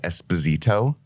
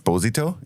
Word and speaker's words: Esposito: is fine Google's tough so he even said Esposito for many years which was kind of just